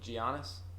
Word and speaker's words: Giannis: for crushing it right now wait for whom giannis is the Bucks player he's their best player I cannot pronounce his name I'm sorry yeah giannis oh